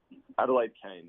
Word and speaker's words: Adelaide Kane: Burkholder and I can't move how do you pronounce the girl's name Adelaide Kane Adelaide Kane okay yeah any memories of them yeah I